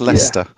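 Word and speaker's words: Leicester: well they will let you struggle Thomas it's Lester Lester there we go strain spelling in the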